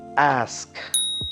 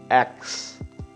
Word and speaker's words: ask: MTI a lot right next word would be ask always remember ask it's not ask it's not X many people have a tendency to say I